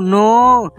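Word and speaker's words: know: স্যার ওখানে লেখা আছে কে এন ও ডব্লিউ নো এখানে কে এর উচ্চারণটা উজ্জ্ব থাকবে একদম ঠিক বলেছিস নন্টে আর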